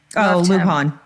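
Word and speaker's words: Luján: This guy Ben, I don't know how you used to pronounce his last name. Luigi Luon. Lion. Uh, he's the New Mexican senator. Luhan. Luhan. Heartfelt.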